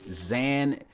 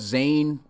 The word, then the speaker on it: Zane: Next, we have a tight end, Zan. It's spelled Zane, but he says it's pronounced Zan Nasir.